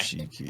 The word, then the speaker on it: Chiki: Mayo Chiki. Oh, that one's fucking good. How do you spell it? M as Mayo, like Mayo. Okay. Yep. Chiki. CHIKI. Chicken, but without the en, it's an I. Cheeky.